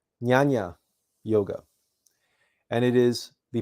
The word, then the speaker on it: Jnana: The next on our list here is pronounced Jnana Yoga, and it is the path of self-analysis and knowledge related to the intellect.